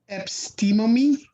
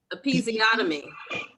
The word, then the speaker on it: episiotomy: Epistemomy. How do you pronounce that? Episiotomy.